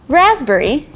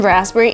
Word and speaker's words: raspberry: have some cocoa later raspberry is another example of a word that has a silent letter so P in raspberry is actually silenced so you can say raspberry you should say raspberry raspberry there is no P it just goes away the right way to